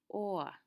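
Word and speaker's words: o'er: Again, can you see how over has two syllables? But to try to fit something into a rhythm, he would use or, one syllable.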